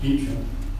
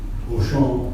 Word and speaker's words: Beauchamp: And that's the way George always wanted his name pronounced, Beecham. Most people would say Beauchamp if they were doing the French pronunciation, but he always called himself George Beecham.